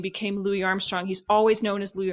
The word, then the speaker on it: Louis Armstrong: me was they kept they referred to to louis armstrong as louis armstrong um which i don't think is the preferred pronunciation so it's it's interesting